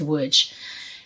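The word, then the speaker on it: Łódź: woods ghetto in poland woods lodz it's pronounced woods i think it's the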